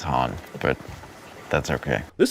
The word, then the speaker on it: Han: Anything h it's Han, but that's okay. This attempt to reccon Billy D. William's odd pronunciation of the name the original trilogy makes me super angry.